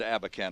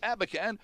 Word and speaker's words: Abakhan: matter of fact as are his colleagues at abacan and Associates our guest in studio Nicole Clark who is a counselor and George abacan who is a trustee and the boss at abacan and Associates you can check them out online